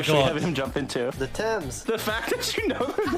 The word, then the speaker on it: Thames: to be honest really i'm saying thames t this is gonna be even weirder when i spell it t h e like thames but thames it's the the river